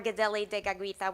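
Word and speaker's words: Kateri Tekakwitha: saw the parallel with Keri teita or geli deag which is the Mohawk pronunciation of her name once ceri met our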